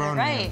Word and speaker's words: Groningen: I think if one's called Groningen, which is really hard to pronounce. Groningen. Yeah, exactly. Groningen. Did I say it right? Yeah, you said Groningen.